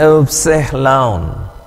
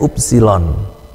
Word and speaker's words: upsilon: dalam mengucapkan bahasa Indonesia lalu silon nah perhatikan huruf besarnya seperti huruf y dan u-nya sama seperti u bahasa Indonesia lalu pembacananya eseh laun ya tapi anda juga tetap diperbolehkan membacanya sebagai upsilon ya dan terjemahan transliterasinya yaitu